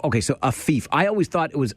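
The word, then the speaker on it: Afeef: Yes, it's Afif. So A as in Andrew. Yep. F as in Frank. Yep. I. No, two E's. Two E's. And then F. And then F. Okay, so Afif.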